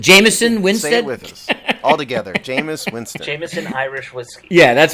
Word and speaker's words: Jameis: what Jameis what's his name Jamie Jameis Winston Jamison Jamison wins all together Jameis Winston yeah that's right that's where my head